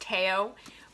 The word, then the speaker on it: Theo: I know the name is pronounced Teo, but he is very